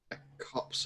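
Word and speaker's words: copse: word copes or cops cops as far as i know cops like a cops of trees like cops of trees yeah yeah that sounds right i always mispronounce it is cops okay thank you google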